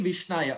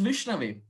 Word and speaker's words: Vishnave: Murkho vadati Vishnaya, a murkha, a fool, may say Vishnaya. But dhiro vadati Vishnave, a pandit, a scholar, may say Vishnave. So the right pronunciation is Vishnave.